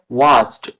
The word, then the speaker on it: watched: সেরকম ভাবে ওয়াচড, ওয়াচড মানে ইডি থাকলে ই সাইলেন্স হয়, এরকম ভাবে আমরা বলছি WATCHED, ওয়াচড, ওয়াচড উচ্চারণ হচ্ছে।